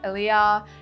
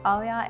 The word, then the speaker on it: ALIYA: that's pretty cool my my artist name is Alia some people pronounce it differently some people pronounce it aah anyway but it's Alia and I originally got the name from my